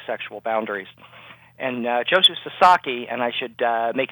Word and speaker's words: Sasaki: And uh Joshu Sasaki, and I should uh make it clear, it's it's pronounced Sasaki.